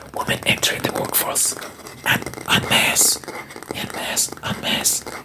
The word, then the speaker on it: en masse: I'm not gonna say masse.